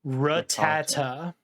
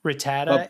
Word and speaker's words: Rattata: Rattata. That is the American pronunciation. Rattata.